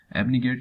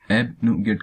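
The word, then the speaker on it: abnegate: तो वहीं पे इसका पर्टिकुलर मीनिंग होता है एबनिगेट। ये इसकी वर्ड प्रोफाइल अपने आप में एक वर्ब होती है, और उसका प्रोनाउंसिएशन यहाँ पे एबनुगेट करेंगे, ना कि एबनिगेट।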